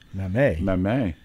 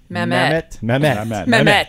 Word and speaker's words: Mamet: Mamet. Is that how you pronounce that?